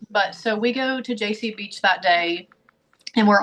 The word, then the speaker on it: Jaycee: And my daughter was in the car with us, and she said, my daughter's name's JC, and it's spelled Jaycee.